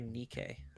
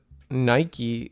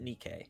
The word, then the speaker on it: Nikke: No, I I get what you're saying, but it's they pronounce it Nikki, okay? Because you have to think Japanese.